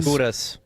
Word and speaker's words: Gudas: Gudas.